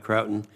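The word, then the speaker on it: Croughton: the idea of consolidating the intelligence assets to Croton. Is that pronounced right, Croton?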